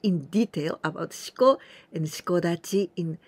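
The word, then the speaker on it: 四股立ち: And here, we pronounce Dachi, Shiko Dachi, because there's some other word before this Dachi.Then we say with ten ten, shiko dachi.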